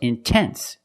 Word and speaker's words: intense: say in no it's intense or words like intensive intoxicated we have the stress after the NT we pronounce the T like a pure T TT release the sound